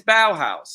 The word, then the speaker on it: Bauhaus: Some Uh, people call Bauhaus, they pronounce it really silly, but it's Bauhaus, and we said it correct, and that's the end of it.